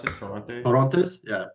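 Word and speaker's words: Torrontés: How do you pronounce it? Toronte? Torrontes? Yeah. Torrontes.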